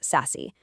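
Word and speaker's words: SASE: It's called secure access service edge or sassy pronounced sassy.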